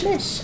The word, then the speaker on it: Myche: All right, is it Myche or Miche? M-Y-C-H-E. I'm gonna go with Miche. You tell me, because I like to pronounce names correctly. Guidance out of analysis paralysis. Gosh, I've been there. Their name is Michelle. Oh, Michelle. Yeah. So it's Mish.